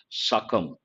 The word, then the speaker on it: succumb: Succumb, we have got many a time, part of speech verb, and the letter B is silent, succumb.